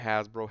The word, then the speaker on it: Hasbro: What does has rhyme with? You could have just took off the H.